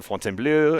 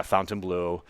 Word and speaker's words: Fontainebleau: brand they'll come in Fon blue and uh uh by uh my my French friends say it much better than I do but but when I'm asked how do you say it I for the for the the General market it's yeah Fountain Blue which I think it